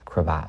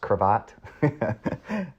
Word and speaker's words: cravat: And so when I first saw that for the first time, and then the next reveal when he takes off his cravat. Pronounced cravat. Cravat.